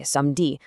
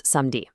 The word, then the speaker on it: samedi: For instance, the word for Saturday, "samedi", almost always just becomes "samdi".